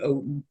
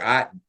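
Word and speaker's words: Otton: to tight end Kate Odon or Aon I think it's pronounced Aon and running back Rashad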